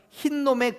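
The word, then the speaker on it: 힌놈: 우리 성경에 지옥이라고 번역되어 있는 헬라어는 흰놈의 골짜기를 의미하는 히브리 단어에서 유래한 겁니다. 여기 또 발음이 여러분 오해하지 마십시오. 흰놈의 골짜기라고 해서 흰 놈의 골짜기가 아니고요, 흰놈이라는 지역이 있어요. 지역 이름이 흰놈이에요.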